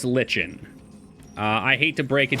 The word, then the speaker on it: lichen: I think you might be the first person to have ever tricked me to properly pronounce something, because I didn't understand what you were saying. Like N. Yeah, no, it's lichen.